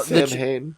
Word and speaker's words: Samhain: Well, Sam Hain.